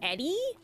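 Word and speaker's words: ED-E: his name is pronounced Eddie how would I know his name is pronounced Eddie there's only one D Ed I don't does anyone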